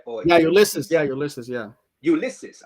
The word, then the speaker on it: Ulysses: So guys, this is Ulysses. How do you pronounce your name? Ulysses, right? Or yeah, Ulysses.